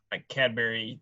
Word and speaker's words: Cadbury: Or sorry, let me get the pronunciation right. Cadbury. I had an England intern one time. And he goes, "There's no berry that's a cad. It's Cadbury."